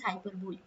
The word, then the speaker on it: hyperbole: device is used this is hyperbole okay the pronunciation is hyperbole hyperbole is used why because hyperbola is a figure